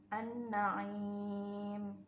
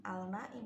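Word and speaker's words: النعيم: terus Alif Lam yang diikuti oleh Nun dibacanya menjadi annaim gitu ya bukan alnaim tapi Anna langsung masuk ke nunnya Anna m Nah itu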